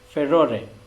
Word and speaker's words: furor: Now let me tell you that it is pronounced differently in British accent. The British pronounce it as furore, while Americans pronounce it as furor.